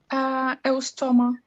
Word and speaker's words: Eustoma: I can't pronounce the first one. How do you say it? Eustoma.